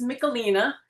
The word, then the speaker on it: Mickalina: Um Is it Mickalene or how do you say your name? Well, the Italian is Mickalina. Mickalina.